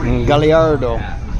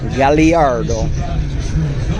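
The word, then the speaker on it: Gallardo: Galliardo. And I know it's pronounced that way because when we were in Italy, I asked at the Lamborghini factory. Galliardo.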